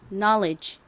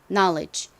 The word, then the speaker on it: knowledge: 쓰였어요 자 그리고 이제 가장 끝부분 D가 남았는데요 반복해서 말씀드렸듯이는 묵음으로 dge 이렇게 단어의 끝부분에 오면 소리가 나죠 그래서이 단어를 발음하면 knowledge 됩니다 knowledge 요건 좀 어려우니까 발음